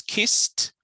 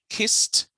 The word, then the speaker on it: kissed: part of the word is kissed kissed so even though it's ed the pronunciation is t kissed all of these things